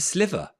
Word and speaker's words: sliver: a thin slice and I've been saying it wrong all these years it's not as it's a sliver um like that did anyone else sliver um because a Slither is a slippery snake that slithers isn't it um so yes